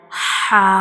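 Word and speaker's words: ح: view of mouth, and ha is pronounced from the throat and from the middle portion of the throat, like ha.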